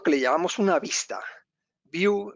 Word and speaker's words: Vue: View, de hecho, sería como la manera de decir vista, las pronuncia así como vista en inglés, o sea, una vista